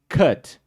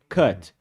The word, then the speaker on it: cut: Then cut, C-O-T, like João, cut. But it's written with U.